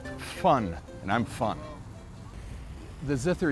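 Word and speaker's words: von: I'm fun in German v n is pronounced fun and I'm fun the zither is indigenous to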